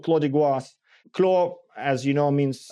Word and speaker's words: Goisses: I've looked it up, and apparently it is Goisse. Apparently Goisse.